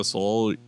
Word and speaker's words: Soloviev: I thought Ilya Soloviev.